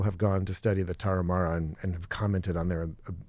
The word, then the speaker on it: Tarahumara: American tribe, and I'm going to try and pronounce this, the Tarahumara. Tarahumara.